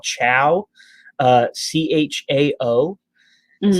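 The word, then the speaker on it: Chao: is available in the uk but it's called chow uh c-h-a-o that's how that's pronounced um it is it's not awful i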